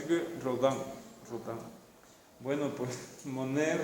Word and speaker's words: Monet: y en este caso si no pronunciamos la última consonante venga monet renoir aunque hay muchos